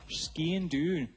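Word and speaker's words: sgian-dubh: I've just learnt from Scottish producer Vic that this little sword in my sock is called a Skean Doon. Is that right? Okay, guy, got review on his pronunciation?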